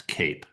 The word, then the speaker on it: CAIP: We shorten it to CIP, which we pronounce CAPE for short. So, the CAPE program, we started it in November of 2023.